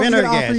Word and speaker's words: Pendergast: Yeah, so Pendergast.